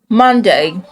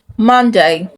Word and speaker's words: Monday: The O makes the sound uh. Uh. Uh. So, you don't say stomach. You say stomach. Stomach. Money. Money. Comfort. Comfort. Onion. Onion. Monday. Monday.